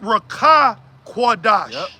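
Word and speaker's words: Ruach Qadash: and learning yeah yeah but it's it's Raa qadash okay brother r a w c h a a uh and then qadash q a d a s hqh all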